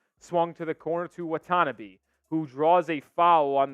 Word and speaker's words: Watanabe: up yeah you're right Watanabe thanks for calling me out I knew I was saying it wrong the entire time but uh I just forgot there was a te in there you what tanabe Richardson